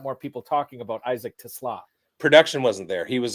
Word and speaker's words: TeSlaa: I want to make sure I'm getting the pronunciation right on this guy. Isaac Teslaa? It's Teslaa. Teslaa.